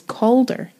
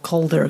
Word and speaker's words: Cawdor: little bit yeah because there's a lot of calder coder stuff in the house and i thought if you said colder like colder like it sounds a lot more like colder right if you were to